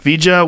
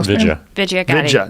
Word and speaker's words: Vijaya: knows and loves them Vijay what is it pronounced well Vidya not vijay vidya the jaw daddy daddy